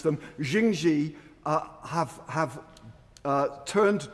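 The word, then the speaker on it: Jingye: Now, as we've heard and as we've read, Skunthorp's Chinese owners, uh, Jing Xi, I learn I should pronounce them, Jing Xi, uh, have have, uh, turned down, uh, offers of help, and they, uh, declare the Lincolnure plant as unviable.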